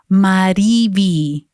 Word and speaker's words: MariVi: So I stood up with my knees wobbling a little bit and said, "It's pronounced MariVi, and my last name is, not just."